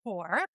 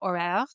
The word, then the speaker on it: Hoare: It's actually pronounced Hoare. So, it's an old English surname. My husband's English. And it's a real head-turner in America. It's known on the East Coast. Out West, like if I'm in a hotel, I just spell it out with the bellhop. I'm like, it's H O A R E.